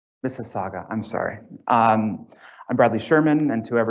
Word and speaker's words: Mississauga: Did I pronounce that right? Mississauga, I'm sorry.